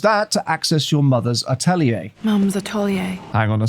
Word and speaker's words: atelier: From French, used in English. Atelier is how it's said in French. Now, in English, atelier.